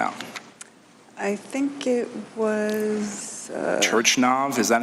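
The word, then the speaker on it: Turchynov: Turchinov, is that how you say it? Turchinov, thank you for helping me.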